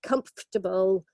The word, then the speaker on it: comfortable: the next one so comfortable stress on the first syllable and only three syllables okay IRA connoisseur very